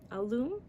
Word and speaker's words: alum: around and add a spoonful of alum a loom to each jar before you start shaking it alum she pronounces it across the room annie